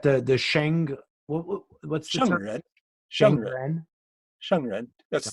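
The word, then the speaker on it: 圣人: Shengren. That's the E is pronounced like shung, like an kind of.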